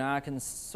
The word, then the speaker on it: Arkansas: got some store in arkansas or whatever how do you say that state arkansas so i said it right so doesn't it end with an s i don't get that